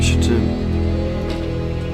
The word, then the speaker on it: Shittim: That is spelled S-H-I-T-T-I-M.